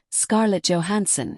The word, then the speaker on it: Scarlett Johansson: Although her name is correctly pronounced Scarlett Johansson in American English, it can sound awkward in Korean.